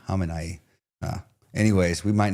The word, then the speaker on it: Khamenei: pronounced like Khamenei. Khamenei.